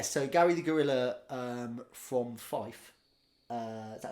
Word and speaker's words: Fife: So, how do you pronounce the place in Scotland? Is it Fife or Fife? Fife.